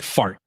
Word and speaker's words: fart: Did you know, Breeze, that in Sweden, the Swedish word for speed is fart? You still with me? Like spelled the same? Oh yeah, exactly the same. It's like fart.